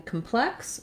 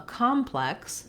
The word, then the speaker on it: complex: So in the noun, a complex, we have first syllable stress.